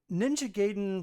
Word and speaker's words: Ninja Gaiden: I'm rejecting your reality and substituting it with my um Ninja Gayen for Ninja Gaiden for Sorry. Sorry. Sorry. You said it right the first time.